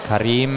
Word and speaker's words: Karim: We have then Karim Shabani. Karim spelling R-I-E-M and Karim Owais spelling K-R-E-E-M. Do we pronounce them the same? We pronounce them the same, yes.